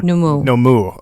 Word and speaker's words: Nomu: you have the issu South Nu mu oh numu okay okay so I have the spelling right okay got it but it's like you pronounce it numu means growth numu okay like the listenership of